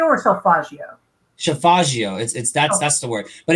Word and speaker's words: Solfeggio: So the importance of that is because, like she said, I always suck at pronouncing the word Savaggio, right? That golden ring. Is it Solfeggio or Solfaggio? Solfaggio.